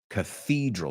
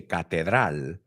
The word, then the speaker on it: cathedral: Cathedral, not because you say catedral, we say cathedral. O sea, cambia el sonido vocal, hay un TH, y también cambia donde ponemos énfasis.